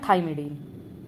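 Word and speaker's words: thymidine: तो उनको सीन में प्रोनाउंस नहीं करेंगे। उनको करेंगे साइटडीन, साइटडीन, यूरडीन, यूरडीन एंड थाइमिडीन। थाइमिडीन।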